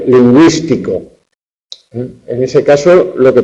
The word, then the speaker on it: lingüístico: La diéresis o crema, pues para indicar en el grupo GUE que esa U se pronuncia. Cigüela, lingüístico.